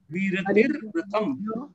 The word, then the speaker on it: विरतिर्व्रतम्: हिंसा नृतस्य तेया ब्रह्म परिग्रहभ्यो वीरतिर्व्रतम। वीरतिर्व्रतम, यहाँ व के ऊपर भी रफार है और नीचे भी है, तो वीरतिर्व्रतम। वीरतिर्व्रतम पूरा एक सूत्र, एक साथ सूत्र, हिंसा नृत तेया ब्रह्म परिग्रहभ्यो वीरतिर्व्रतम।